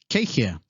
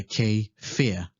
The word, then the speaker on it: kei hea: which means where is in some regions you'd pronounce the w so you would say k fear instead depending on your location you should adapt to the local dialect next upoko which means